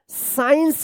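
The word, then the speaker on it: science: अब देखिए यहां पे एस सी आई ई एन सी ई क्या पढ़ेंगे इसको साइंस पढ़ेंगे साइंस यहां पे सी जो है ना साइलेंट रहेगा क्योंकि सी एस के बाद सी आया है।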